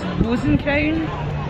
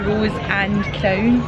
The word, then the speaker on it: Rose and Crown: Yeah, we've never seen anybody other than people from the UK who can pronounce this correctly, so all we hear is Rosencrown. It's never the Rose and Crown.